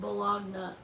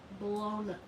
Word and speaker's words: Bologna: clock like Brussels, and it's not Bologna, it's Bologna. No. What is it, Courtney? How they pronounce it? Italy. Bologna. Bologna. No, not Bologna. We say bologna.